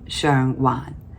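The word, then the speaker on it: 上環: Same Wan, but one is pronounced Shang Wan, and one is pronounced Chai Wan.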